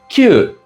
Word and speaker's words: 宮: Kon in Mandarin or kyu in Japanese.